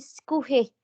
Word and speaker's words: Schuhe: Bacanya ini Schuhe. Schuhe. SCH dibacanya SY ya.